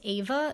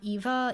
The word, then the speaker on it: Eva: here to say that her name is literally pronounced ava not eva even though it's spelled eva and that i'm stupid